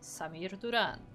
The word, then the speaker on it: Samir Duran: it is the purple Zerg player it is Samir Duran and yes I intentionally Pro pronounce it with a hard R because that's